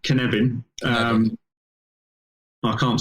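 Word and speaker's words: Cynefin: has a process called kanevin it's a welsh word so it's felt differently to i would say it but knebin um i can't spell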